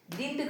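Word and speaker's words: didn't: यहाँ पर हमको ध्यान देना पड़ेगा कि डिंट का यूज होता है, डिडंट नहीं कहा जाता है, इसको डिंट कहा जाता है. Okay, pronunciation is डिंट.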